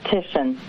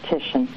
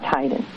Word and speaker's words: Titian: You know how T-I says S-H? T-I sound says S-H.